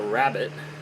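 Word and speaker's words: rabbet: a Groove which is this is called a rabbit spelled different than rabbit like bunny it's spelled r a BB e t this is called a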